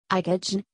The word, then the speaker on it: IKOJN: IKOJN, pronounced Icon, the J is silent, is her second name Njoki, spelt backwards.